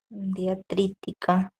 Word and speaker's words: diacrítica: Ahora, ¿por qué tildaré yo diacrítica, por ejemplo? Diacrítica. Pues porque termina en cri fue la palabra más fuerte, pues por eso va la tilde en la i.